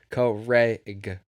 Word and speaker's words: Craig: Apparently you're not supposed to say it like the name Greg with a C. It's supposed to be like Craig. Like you have to hit the C like Craig.